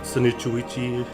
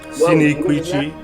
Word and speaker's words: Sinicuichi: For a long time, I used to call it Sinicuichi and Heimia salicifolia, but I've learned how to pronounce those correctly. It's Sinicuichi and Heimia salicifolia.